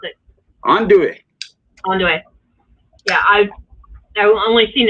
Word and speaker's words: andouille: Yeah, I want some actual boudin and andouille. I think that's how you pronounce it. Andouille.